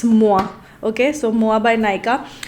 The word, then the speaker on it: Moa: Somebody corrected me that it's not Moe, it's Moa.